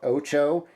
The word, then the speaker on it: OTXO: Um, next we're talking about OO and uh that's how you pronounce that. OTXO oo.